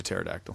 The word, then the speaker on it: pterodactyl: yeah have him Sousa pterodactyl yeah their names are pretty much spelled exactly the same yeah sure yeah there's a silent P and a thinnest you